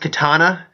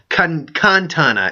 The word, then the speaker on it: Maz Kanata: It's almost pronounced katana, But Maz Katana, you gotta kind of go Kantana instead of Katana.